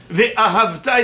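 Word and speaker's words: וְאָהַבְתָּ: en bas du mot ?» Eh bien, « Ve'ahavta » c'est à la fin du mot.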